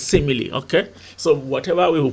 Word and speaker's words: simile: Some people pronounce it as smile, but here we pronounce it as simile.